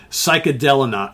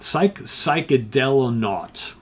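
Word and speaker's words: Psychedelonaut: one which is uh psychedelic not psychedelic naught that's how you say it very cool cover um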